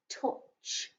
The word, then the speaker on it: touch: owl sound didn't you this is one of those alternative pronunciations where owen u isn't making an ow sound it's making an uh sound so if it's making